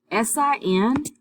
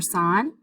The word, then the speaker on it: sin: about trig ratios and s-i-n is an abbreviation for sign so it is not pronounced sin and the way that